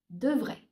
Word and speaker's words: devrait: Il, elle devrait. Please note, guys, that devrait, devrait, devrait, and devrait are pronounced the same way. Only nous devrions, vous devriez sound different.